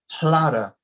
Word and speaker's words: Hlada: So now it's Hlada is how you say the word year.